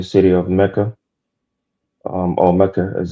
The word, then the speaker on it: Mecca: Um or Mecca as it's actually pronounced.